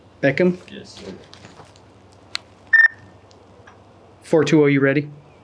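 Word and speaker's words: Bekim: and how do you say your first name Beckham yes sir 420 you ready yeah last name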